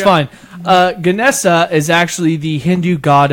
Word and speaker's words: Ganesh: It's not Ganesha. It's Ganesh. Ganesha is another word for it, but in another pronunciation, it's Ganesha. Oh. And there's also Ganesh. That's another way of saying it.